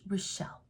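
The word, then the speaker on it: Rachel: r a c h e l but it's pronounced relle because I wanted her to be the softer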